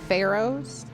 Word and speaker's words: pharaoh: you on vacation from Pharaoh's Pharaoh lots of silent letters in that one oh pharaohs yes I